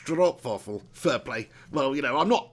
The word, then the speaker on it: stroopwafel: Neil Duffin says, haha, stroopwafel is pronounced stroopwafel.